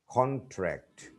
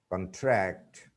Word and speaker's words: contract: When we use some words as nouns or adjectives, the stress is on the first syllable. But when they are used as verbs, the stress is put on the second syllable.